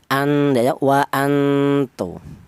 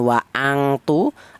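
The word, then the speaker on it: وَأَنْتُمْ: Jadi wa antu, bukan wa angtu atau ausat wa antu bukan, tapi ini lebih dominan samarnya daripada dengungnya. Cara bacanya wa antu seperti itu.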